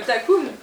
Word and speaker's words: Takoum: Elle dit pas le nom parce qu'elle n'arrive pas à le prononcer. C'est le Takoum.